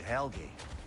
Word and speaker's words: Helgi: A king named Helgi.